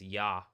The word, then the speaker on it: Yah: That being said, if you're gonna get it closer to correct, it is yah.